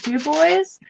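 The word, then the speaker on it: Dubois: ever in Florida and D boys is spelled duu b o i s it's the ocean so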